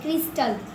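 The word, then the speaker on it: crystal: System C आर वाई एस टी एल क्रिस्टल।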